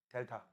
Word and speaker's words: 델타: 온도 변화는 앞에다가 이렇게 삼각형 그리고 읽을 때 뭐라고 읽어? 델타.